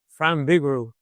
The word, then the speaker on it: Frank Vigoroux: But need to make sure that I get the correct pronunciation of your name. So could uh, give that to me here. And Fran Bigo.